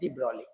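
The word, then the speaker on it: de Broglie: Then came Dbroli. He's a French scientist. The spelling is very uh take a precaution about the spelling. D Brogley but G is silent. Dbroly Dbroly said I would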